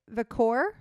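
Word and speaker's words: Vaquer: Mercedes Moné versus Stephanie Vicor.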